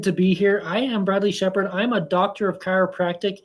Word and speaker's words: Bradley Shepherd: deep into the Journey of our incredible guest Bradley Shepard did I pronounced that right yes yeah perfect perfect so